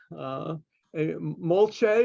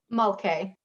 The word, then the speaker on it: Mulcahy: Molche, is that how you pronounce? Mulcahy.